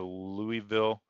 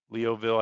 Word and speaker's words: Louisville: the north of the Louisville leoville I think is how you say that see if we